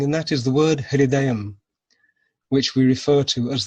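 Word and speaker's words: हृदयम्: And how do you spell that word, hridayam? Yes, that's a very good pronunciation. Hridayam, H-R-I, Swamiji, D-A-Y-A-M, hridayam.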